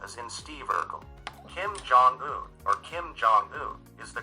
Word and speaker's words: Jong-un: among fail and Yet, Jong-un is really articulated as a two-syllable single word rhyming with Tongan, an individual from Tonga.